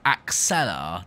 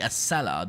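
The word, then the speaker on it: Acela: to pronounce it as axella didn't I but it's the a seller not ax seller because I used to say axella not acella anyway we've got the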